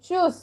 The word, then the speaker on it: Tschüss: Okay, जो informal bye है so that will be pronounced as चूज.